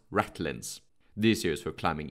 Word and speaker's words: ratlines: These horizontal lines between the shrouds that connects them and forms a ladder are called the ratlines, though it's pronounced ratlins.